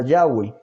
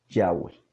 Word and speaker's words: Yahweh: a usar la forma yahwei así está pronunciación del tetragramatón nunca se perdió realmente las transcripciones griegas indican que y hwh Debería ser pronunciado yagüe esto lo puede usted